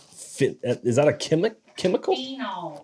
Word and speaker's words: phenols: slightly sweet slightly sweet Oak Apple that one finnels finnels fennels finnels like finnel seed but it